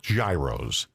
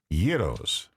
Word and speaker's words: gyros: Well, yeah, the the gyros and uh we have And it's not gyros, it's gyros.